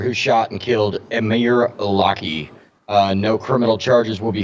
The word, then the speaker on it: Locke: police shooting of Amir Locke. Hennepin County Attorney Michael Freeman and Minnesota Attorney General Keith Ellison announced Wednesday. I think it's just a mere lock. I think the E is silent. Locke.